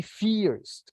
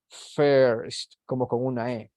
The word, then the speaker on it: first: one is not fierced don't say fears a fears it isn't Fierce it is first like in this first